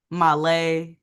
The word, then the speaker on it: Mahlleh: Mahlleh, yeah, in the building.